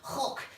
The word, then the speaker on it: Hoek: Now I pronounce it Hoek, that's not how you pronounce it. Seemingly the Dutch pronounce it Hoek. Sounds much nicer.